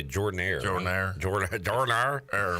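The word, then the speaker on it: Jordan-Hare: You don't say Jordan Hare. You say Jordan Air.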